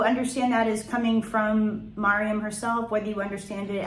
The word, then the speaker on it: Maryam: So that's why I tend to spell her name and pronounce it Maryam.